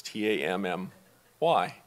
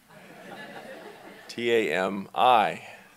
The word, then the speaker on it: Tami: her and I that I would intentionally mispronounce her name, and I would call her Tam-I.